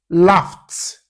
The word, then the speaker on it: laughed: Laughed. The word laugh ends with the f. Yeah, that's the letters gh giving us the sound letter f would normally give you, which is f.